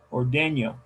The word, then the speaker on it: ordeña: Ordeña. Eso. El acento es en la segunda sílaba.